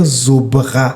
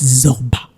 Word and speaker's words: Zorba: y a le magique zobra non non faut pas mal prononcer le faut bien prononcer le nom c'est le magique Zorba ah parce que le